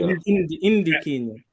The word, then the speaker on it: Ndikinya: Or is the N silent? No, you said it right. Ndikinya.